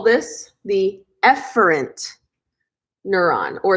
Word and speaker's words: efferent: like to say so you pronounce this word efferent but I like to say e Ferentz I like to mispronounce it on purpose because E for exits